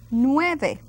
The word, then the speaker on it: nueve: And we go to nueve. Nueve. Now notice I will pronounce every single letter, each letter.